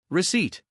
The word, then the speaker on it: receipt: receipt The P is silent. We say receipt.